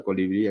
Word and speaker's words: colibrí: Por eso la palabra colibrí aquí, li, es una palabra aguda, termina en vocal, ya tiene su tildecita ahí, ¿no?